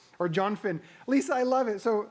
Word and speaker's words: Jonathan: Or Jonfin. Lisa, I love it. So Lisa wrote Jonfin, which is how Alex pronounces Jonathan's name throughout the movie. Jonfin. Again, it's a delightful film, people.